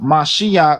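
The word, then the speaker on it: משיח: says in the Torah and the Tanakh commonly pronounced Mashiach literally means anointed one.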